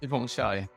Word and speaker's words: Suthipongchai: Can you pronounce it for me, please? Suthipongchai.